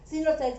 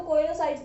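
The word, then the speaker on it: coenocytes: क्या बोलेंगे, सिनोसाइट्स। कहीं कहीं आपको कोइनोसाइट्स भी लिखा हुआ मिलेगा, तो वो प्रोनाउंसिएशन का डिफरेंस है।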